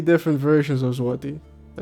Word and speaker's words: złoty: Coming through with the 5 Polish złoty. Pretty sure that's how he told me to pronounce it. Z-W-O-W. No. Z-W-O-T-E-E. Złoty. Złoty. Złoty. One of those.